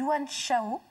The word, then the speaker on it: Yuan Shao: date la sacrifier de wang chao je prononce bien une once le haut je prononce pas à la chinoise c'est le roman d'un